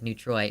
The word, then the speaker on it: Neutrois: yeah, I'm just gonna stop saying it, because the word that you've used is pronounced Neutrois, and so it's, like, weird that you want to... It's, like, Neutroy.